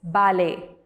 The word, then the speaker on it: ballet: Fifth one, it's ballet. B-A-L-L-E-T. We don't read it as ballet, we read it as ballet.